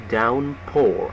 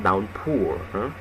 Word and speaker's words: downpour: We pronounce downpour, not downpour. Downpour. Again, downpour.